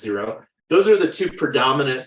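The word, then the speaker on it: Xero: QuickBooks or zero uh xcro I think it's pronounced zero those are the two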